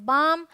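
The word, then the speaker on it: balm: ये है बाम, पाम, यहाँ भी एल साइलेंट है, ये है सैमन, ये है, यहाँ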